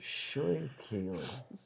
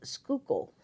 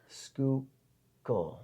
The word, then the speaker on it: Schuylkill: You're gonna pronounce the name and guess what pen this is. What brand pen this is. Schurikele.